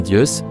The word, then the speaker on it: Zeus: Le mot Zeus, prononcé Deus en grec biblique, est à l'origine du mot Dieu.